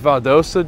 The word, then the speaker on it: Valdosta: bit of a promo we're going to it's pronounced valdosta georgia friday at 6 00 p.m so be